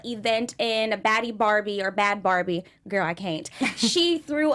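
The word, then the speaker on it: Bhad Barbie: How do you say her name? Bhadie Barbie? It's Bad Barbie. Yeah. Bad Barbie.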